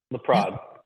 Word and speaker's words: LaPrade: Did I say it right? LaPrade. LaPrade. LaPrade. Yep, you got it.